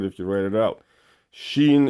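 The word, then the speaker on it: شين: Sheen is like an SH, first of all, and then EEN. So it'd be similar to that. That's how you pronounce it.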